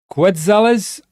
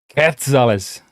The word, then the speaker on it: quetzales: Is it Quetzales? That's how I would read it as Croatian, or is it Quetzale? I'm just trying to. Yeah, don't pronounce the U.